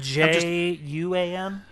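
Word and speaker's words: Wan: I think it's spelled J-U-A-N.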